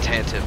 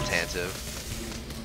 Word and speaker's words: Tantive: The Devastator and the Tantive Core, or Tantive. I always pronounce it Tantive.